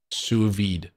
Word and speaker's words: sous vide: what is a souu s-o-u-space v-vide v-i-d-e suvide what is it tim it's veed okay i alright what is it sous vide okay what is it